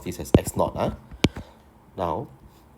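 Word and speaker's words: x₀: is basically 1.5 times of the original or x naught okay so x not here we pronounce this as x naught now x x1 can be replaced by 1.5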